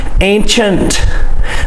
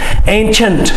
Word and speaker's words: ancient: work of art ancient can you say that ancient c-i-e-n-t is pronounced chant ancient and so it has the c-h sound chant